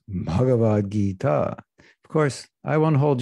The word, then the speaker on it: Bhagavad Gita: It means a long I and a long A.